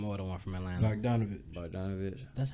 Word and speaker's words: Bogdanovich: You got, but I can't pronounce this man's name, or him, or the one from Atlanta. Bogdanovich.